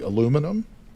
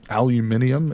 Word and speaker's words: aluminium: Aluminum, aluminium, as the Brits say.